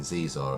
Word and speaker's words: Xizor: Anyway, it's spelled Xizor, and it is that guy there. I'm sure it's pronounced Zizor or something, Zizor or something like that.